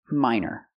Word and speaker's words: minor: major and minor used the long I like hi and like my minor he doesn't have minor